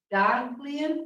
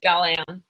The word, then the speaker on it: Daglian: Okay, next up, Daglian, is that how it's pronounced? Close, it's Dalian.